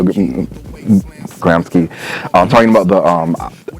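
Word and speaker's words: Gramsci: Davis quoting Grant gramsky I'm the Italian I pronounce that Antonio gramsky I'm talking about the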